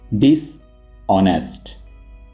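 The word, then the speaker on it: dishonest: इसको आप हॉनेस्ट नहीं पढ़ेंगे, आपने एच को साइलेंट रखना है और इसको आप ऐसे प्रोनाउंस करेंगे डिसऑनेस्ट।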